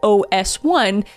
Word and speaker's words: OS1: And what sets OneSkin apart is their science-first approach, because they've developed this patented OS1 peptide, and when I say OS1, that's exactly how you pronounce it.